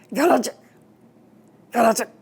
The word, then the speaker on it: Cowlitz: to teach me how to say cowlets in a native Indian dialect. and they would kind of make my throat go through the gyrations that would sound like galic galic.